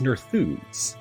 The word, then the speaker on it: Nerþuz: the book and for this one it is nerfoods that is how you pronounce horse again not that surprised so let's